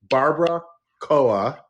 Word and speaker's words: Barbara Koa: Actually, I do have a drag character, and her name is Barbara Koa, which sounds like barbacoa. Barbara Koa, spelled like Barbara Streisand.